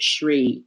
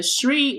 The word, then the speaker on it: Shri: It's called Shri. I think it's Shri Restaurant and Lounge or something. It's spelled SHRI.